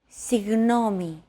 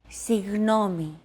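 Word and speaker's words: συγγνώμη: between the small separation another approach is to try to pronounce a g as if an H sound were to follow after it and hold that sound while you exhale the after sound created by that H is what you're looking for listen as Chrissy demonstrates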